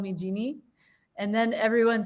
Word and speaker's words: Jeanne: name jean or jeannie well in france it's jean i know in france but what about in the space um no i was born genie um my my parents called me genie and then everyone said